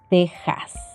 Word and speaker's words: Texas: sera xenofobia y luego cuando la x se encuentra en palabras de topónimos americanos el sonido en este caso será una ejemplo méxico tejas y y yeso hierba